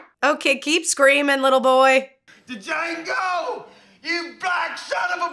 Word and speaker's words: Django: DJANGO! You black son of a... The D is silent here, baby.